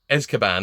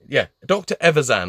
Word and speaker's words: Evazan: Because I keep calling him Dr. Azkaban because of Harry Potter. But it's Dr. Evazan. Oh, God. Don't know why. Even since I was a kid, I've never been able to say his name properly.